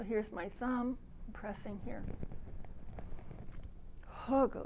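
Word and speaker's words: Hegu: my thumb pressing here hog spell h-e-g-u but it's not pronounced like an english word and then press and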